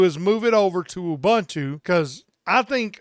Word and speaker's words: Ubuntu: wanting to do is move it over to Ubuntu cuz I think Ubuntu is one of the most stable please Arch